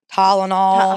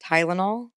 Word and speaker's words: Tylenol: like some people died from it because Southern Talenol. How do you say it? Tylenol.